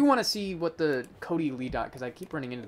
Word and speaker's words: cotyledon: Cotyledon, that's how you say it.